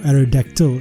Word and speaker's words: Aerodactyl: Aerodactyl or Aerodactyl as it's supposed to be pronounced, but I've always pronounced the Y in the name. It's more fun that way. Aerodactyl.